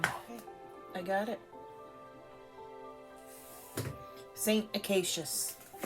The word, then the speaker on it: Acacius: Okay, first of all, I have to pause and figure out how to pronounce this person's name. Okay, I got it. Saint Acacius.